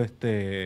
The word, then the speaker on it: quiche: Actually, yo creo que quiche es como un plato Kish, Kish, Kish. español de desayuno, creo que es buenísimo, pero se escribe con Q, no con K.